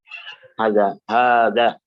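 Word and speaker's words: هٰذَا: Begitu pula apa? Haza, bukan haza, tapi haza. Ya, ada alif setelah ha, ada secara pengucapan tapi tidak ada secara tulisan.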